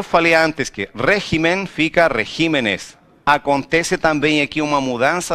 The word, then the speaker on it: regímenes: Porque no plural muda a sílaba tônica. Não se fala regímenes, se fala regímenes. Teve a alteração da sílaba tônica quando passou do singular para plural.